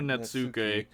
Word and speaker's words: netsuke: You say the net and then the T is like blends into the S.